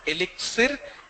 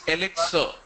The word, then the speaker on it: elixir: It's not elixir. It's elixir. X-I-R. It's sir. Elixir. It's like S-I-R.